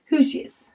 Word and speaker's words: Hoosiers: She said the word Hoosiers, pronounced who is there, combined, oh, who's there? Hoosiers.